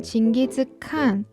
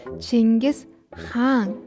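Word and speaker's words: Чингис хаан: 보통 우리는 진기즉 그리고 그분의 아버지를 예수이라고 부르죠. 하지만 실제 몽골어로는 징그스항 그리고 예수해라고 부릅니다.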